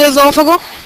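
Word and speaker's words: esôfago: a ca tônica de esófago esófago tem uma pronúncia aberta ou fechada é uma proparoxítona e toda proparoxítona tem que ter acento órgão Qual é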